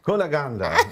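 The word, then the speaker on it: Cunégonde: how do you say your role in candid kuna gandha kuna gandha very good she actually beat Glenda I mean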